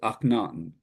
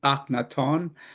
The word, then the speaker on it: Akhenaten: Uh, Now I'm going to give you the usual pronunciation of his name, which is not really the correct pronunciation, but he was no has been known as Akhenaten. The Egyptian, the original Egyptian name is Akhenaton, but for the purposes